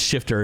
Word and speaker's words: SH1FT3R: But chat, if you're watching the VOD, it's Shifter and it's spelled SH1FT3R.